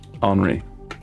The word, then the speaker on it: Henri: Henri. Okay. It's spelt like Henry, but with an I. But it's Henri.